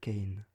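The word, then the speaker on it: Khayon: histoire ainsi soit il mon nom est qu'aion nous prospérons dans le bas gothique des plaines de l'oral sur terra se prononcerait c'est quand dur et qu'aion ce prix serait kane l'état au samsung le connaissent sous le nom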